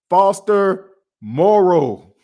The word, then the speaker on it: Foster Moreau: Foster Moreau. I've been saying his name wrong too.